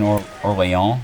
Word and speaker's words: Orléans: Okay, so we're going to work the bison here in Orléans, which I believe is the way it's approximately pronounced in French.